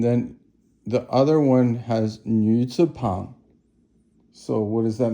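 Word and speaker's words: 女: So that yu is hard for Americans to pronounce, but it basically means it's like the French yu, and nu is third tone, and it means a woman.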